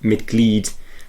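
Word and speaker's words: Mitglied: Whereas with a word like mited, it's m i t g l i e d. So you pronounce it miked uh which means member.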